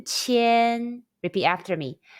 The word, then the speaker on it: qian: Qi, yan, qian.